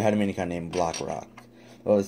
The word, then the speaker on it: Blockrock: was wrong it's actually block rock I said Rock block I was doing it backwards but it's block rock I'll date breast blaster had a mini con named block rock I was saying I